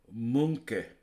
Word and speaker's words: Monkey: Monkey, also known as an ITV digital monkey or PG tips monkey, often pronounced Munke. Oh, okay. Look, I can pronounce that. Munke. Munke. It's my Munke. Imitation of Johnny Vegas's Lancashire accent.